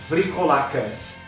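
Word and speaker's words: βρυκόλακας: Se alguém souber grego, depois corrija aqui, mas a maneira como pronuncio seria Vrikolacas.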